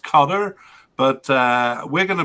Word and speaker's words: Qatar: And then the fourth team is, it's supposed to be pronounced Qatar, but we're going to pronounce it kind of Qatar because that's what English speakers generally use.